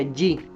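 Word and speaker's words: じ: No se transforma en Z, sino que se transforma en JI. Romagne se escribiría JI, pero se pronuncia Yi, como con doble L y una I, como Yi, como de fallido, ¿verdad? Como cuando uno escribe fallido, ese Y.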